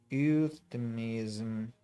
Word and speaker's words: euphemism: the tenth time literally euphemism euphemism not Euro but the youth youth actually euphemism someday I remember euphemisms